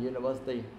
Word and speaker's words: university: one uh University and University guys uh why why we have to use uh not un yes University because the way we pronounce you that be yeah okay that yeah that's consonant sound so that's why we